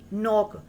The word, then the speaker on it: knock: KNOCK, नॉक। इसमें जो के लेटर है वो साइलेंट है। N से वर्ड रीड किया जाएगा नॉक।